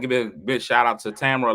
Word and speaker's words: Tamara: so to show me how to say her name she's like it's Tamara like Tamera so now every time I say her name I gotta say Tamara like camera I do the same